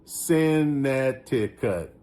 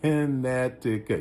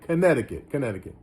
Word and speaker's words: Connecticut: would have pronounced that Connecticut. But that's the way my brain works. But he says Connecticut. Yeah, Connecticut. Golden King says broken English.